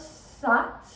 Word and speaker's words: sat: But what we will be doing, we will say sat, and as we pronounce sat, which is S-A-T and almost sounds like sut, we will actually be pushing our belly button forward.